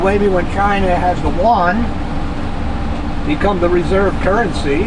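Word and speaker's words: yuan: something underneath the one the correct pronunciation okay y-u-a-n one one it's almost like the spanish word for john juan well that's j-u-a well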